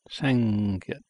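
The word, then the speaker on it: 쌍기역: this is pronounced like a T, the Giyot, pronounced Giyot. This character, two of them, so it's called the twin Giyot, Sangyot, Sangyot, G-I-Y-E-O-K.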